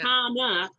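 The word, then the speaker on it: Khanna: Is that how he pronounced it? Rokana. Ro Rakana. Yeah. Kana.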